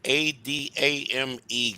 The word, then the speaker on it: Adame: Adame, guys, is how you pronounce Nick's last name.